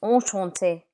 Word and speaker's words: enchanté: you in French is enchanté, enchanté. But in written communication, you would add an extra E when the speaker is female. But when you pronounce it, it's the same.